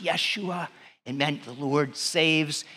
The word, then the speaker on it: Yeshua: call his name Jesus in their language it would have been pronounced Yeshua it meant the Lord